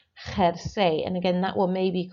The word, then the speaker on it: jersey: And number 4, jersey. And again, that one maybe caught you out because, of course, the J is pronounced like an H.